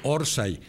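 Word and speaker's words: orsay: en la mente decirse orsai que es en el origen un offside mal pronunciado muy mal pronunciado en españa que deriva en orsai y que después se acepta acentuada en la o rsa y orsai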